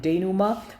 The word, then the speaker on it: denouement: देखिए pronunciation देखिएगा क्योंकि most of them are Greek और Latin terms, तो देखिएगा उसको बोलते हैं हम denouement.